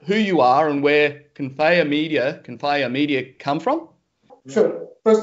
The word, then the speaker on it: Confaya: I'm very lucky to have with me today, I have Roland and Oliver from, how do I pronounce it, Confaya Media? Confaya. Confaya.